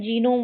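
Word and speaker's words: genome: इसमें यह वाला वर्ड आप है जीनोम वर्ड। इसको आप याद रखेंगे कि इसको जीनोम ही पढ़ा जाता पढ़ा जाता है। इसमें हमारा जी साइलेंट नहीं होता है।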